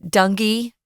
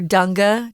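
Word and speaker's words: dengue: know too much about dangi fever or as uh I I was listening to different pronunciations of this word you could also say uh dungi or Danga Danga there are so many different ways so be prepared you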